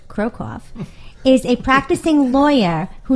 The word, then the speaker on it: Krokoff: Scott Krokoff, pronounced Krokoff, is a practicing lawyer who never gave up